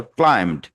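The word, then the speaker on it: climbed: তাইলে ক্লাইমড আ storm B পড়িনি।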